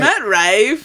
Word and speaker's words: Matt Rife: But Matt Rife, you say it like my wife, like yeah.